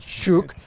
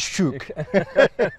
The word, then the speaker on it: shuk: marketplace known as the shuk now I can say it that way as a Scotsman but then I've been corrected by Americans say it's not shook it it is shook well here's that story